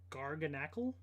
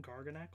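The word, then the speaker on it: Garganacl: a cool one okay gargan Ackle I know it's supposed to be like NaCl like sodium or whatever but just in terms of how you pronounce it not garganak cool looking Pokemon though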